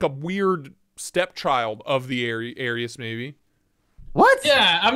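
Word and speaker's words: Ares: it looks like a weird stepchild of the Aries Maybe what yeah I'm not saying I'm not saying that it's identical or close but it has similar lines and it's pronounced Aries by the way it's the God of War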